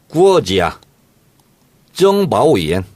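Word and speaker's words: 国家情报院: 국가정보원은 중국식 발음을 이렇게 합니다. 어떻게 합니까? 구어지야. 정바오이엔.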